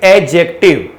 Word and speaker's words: adjective: आपने देखा होगा एक टॉपिक हम पढ़ते हैं that is एडजेक्टिव। D silent होता है तो क्या पढ़ते हैं? एडजेक्टिव।